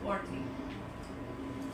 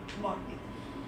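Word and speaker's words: botany: Next है बॉटनी। बॉटनी इसका pronunciation best यही है, बॉटनी। बोटैनी नहीं होता, बॉटनी होता है, ठीक है।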